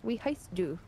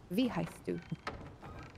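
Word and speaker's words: wie heißt du: Sorry, it's V. V heist. We has to? V heist do. W's are pronounced like V's in German.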